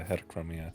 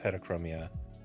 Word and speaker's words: heterochromia: They have kind of a heterochromia thing going on.